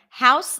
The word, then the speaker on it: house: you guys are good house the H is always pronounced honor honest hours there